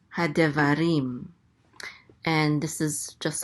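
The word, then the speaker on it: הַדְּבָרִים: So this is rim. Hadevarim.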